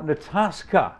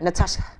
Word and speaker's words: Natascha: Now, Natascha. Yes, that's sir. That's a little different way of pronouncing it because it's a German pronunciation. Yes, sir. Natascha.